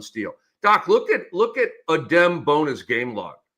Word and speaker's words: Adem Bona: So it's Adem. It's not Udem, right?